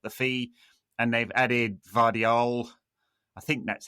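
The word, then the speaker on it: Gvardiol: And they've added Vardial. I think that's how you say it. It's a silent G who is an excellent defender.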